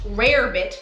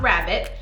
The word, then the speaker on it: rarebit: sandwich and salad so it is a welsh rare bit not rabbit i had to correct myself on that welsh rare bit croquet